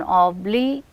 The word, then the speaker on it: obligation: The third one, obligation. or said without any emphasis. Gation, you can hear that on g sound we are receiving the stress. So, because that is a syllable, it is receiving stress, it is receiving said with more force, and we can say that that is receiving primary stress.